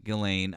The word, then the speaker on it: Ghislaine: Thank you, Ghislaine.